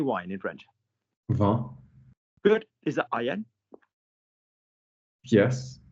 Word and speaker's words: vin: Vin?